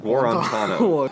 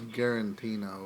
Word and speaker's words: Guarantano: How do you say his name? Guarantano. It's, yeah. I thought it was Garantino or something like that.